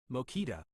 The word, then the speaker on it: Mokita: Mokita is pronounced mo-kita.